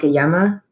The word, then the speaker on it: llama: llama on the phone because in spanish it's a it's basically a bilingual pun like yama because yama is also talking um so it's yeah